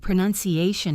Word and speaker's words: pronunciation: The verb is pronounce, and the noun is pronunciation, not pronunciation. The middle vowel goes from an OUN sound to a nun sound.